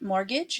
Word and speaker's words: mortgage: know this one and the T is silent mortgage and that's a house payment mortgage number to rent you